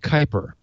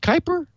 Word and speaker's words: Kuiper: That U in front of the I always kind of throws me off a little bit. It's like, wait a minute.